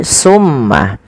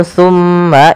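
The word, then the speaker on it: ثم: Ketika kita melafalkan tsumma, usahakan kita menahan suara mimnya. Tsumma dan harus hati-hati di dalam melafalkan tsa. Jangan sampai huruf ini terganti dengan huruf sin. Maka misalkan terdengar bunyi summah.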